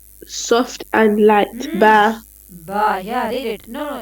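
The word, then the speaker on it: ب: We read it by making our lips closed.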